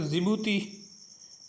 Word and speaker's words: Djibouti: ठीक, जिबूती की spelling DJIBOUTI, जिबूती लिखवा हुआ मतलब जबूती पढ़ना उसको, जिबूती।